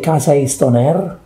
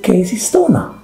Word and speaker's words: Casey Stoner: know that's his name in italy it's casey stoner they don't say casa estoner okay okay it's a casey stoner so a little bit